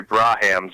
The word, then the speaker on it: Braham: racist you need to learn how to pronounce Gary braham's last name it's Braham my friend just I'll glance I'll